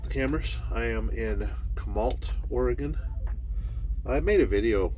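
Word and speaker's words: Chemult: month i think and i pronounced it wrong it's it's ult at the end c-h-e-m-u-l-t and uh for some reason i was pronouncing it kamalt like you know like malt uh milkshake you know or malt liquor right so we're gonna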